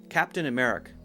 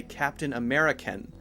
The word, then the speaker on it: Captain America: where's the uh America you have to make sure that uh sound is very clear at the end and also I've heard a few people say Captain American American American is the adjective so it should be the name of the country Captain America Captain America